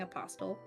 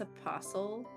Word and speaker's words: apostle: Yeah, Sharky corrected my pronunciation because I was saying apostle. And I guess it's apostle, but as a word, it feels like it should have a T, just in the way that the sound flows.